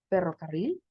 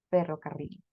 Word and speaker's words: ferrocarril: No es lo mismo que yo diga ferrocarril. Si ustedes lo pronuncian donde están, van a sentir que su lengua toca parte del paladar y parte de sus dientes. Podemos decir una vez más, ferrocarril. Se siente ese como toque. A eso le llamaríamos el rolling the R's, enrollar nuestras R.